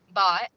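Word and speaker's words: Bhatt: name is matma matma bot it's pronounced bot it's spelled b h a t t but it's uh she's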